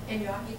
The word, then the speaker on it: gnocchi: Gnocchi.